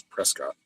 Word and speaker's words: Prescott: It's like there's a place called Prescott out here, but everybody calls it Prescott. Like, no, it's Prescott.